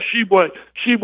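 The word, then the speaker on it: Tshiebwe: really well coming from iowa uh the kid does she i think it's how you pronounce it yeah was correct you hit it on the head yeah she would cheat coming from west virginia strong inside player he's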